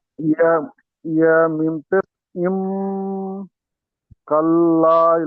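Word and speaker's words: كلا: দেখেন কাল্লা, কাফ লাম জবর কাল, লাম আলিফ জবর লা, এক আলিফ টান হবে।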